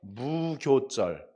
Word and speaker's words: 무교절: 않은 떡을 먹었다 그래갖고 무교절 무 없을 묻자 교는 원래 발효할 때 효자인데 교로 발음을 해요 무교절 이렇게 얘기합니다 그래서